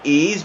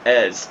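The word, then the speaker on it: Eberechi Eze: And I actually did do research, and from what I could see, I've seen a bunch of people pronounce it Ease, but I guess it's actually supposed to be pronounced Ez.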